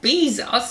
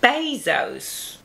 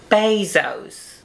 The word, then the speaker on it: Bezos: She'd be the Jeff Bezos of petroleum production. Well, I think it's pronounced Bezos. Oh, that's impossible. You don't say Jesus, do you? But I saw a video of him pronouncing it Bezos.